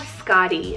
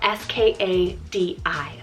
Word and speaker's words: Skadi: Then I have Skadi, spelled S-K-A-D-I, Skadi.